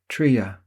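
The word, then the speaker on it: Τρία: Over the comms, I heard: “Tría. Dýo. Éna.” (pronounced TREE ah, THEE oh, EH nah) Then, through the monitor, we heard a tiny explosion—immediately followed by a much larger one.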